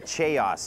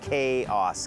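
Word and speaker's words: chaos: o s นะ ฮะ แต่ ว่า ไม่ ได้ ออก เสียง ว่า jos ออก เสียง เป็น kos เคอ ส่วน คุณศัพท์ ก็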